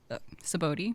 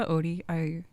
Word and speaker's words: Sabaody: Saboti. Is it Mm-hmm. Sabaody? So yeah. I've pronounced it Saboti since I was like 13, so I will not change it.